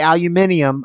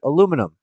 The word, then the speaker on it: aluminum: American I don't say aluminium I say aluminum there's not an extra I in there I don't know where